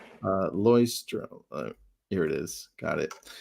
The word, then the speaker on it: Leuchtturm: So, journal, the #1 journal company is a German company called Leuchtturm, and it's not pronounced like you think. So, let me give you the pronunciation, the spelling. Leuchtturm.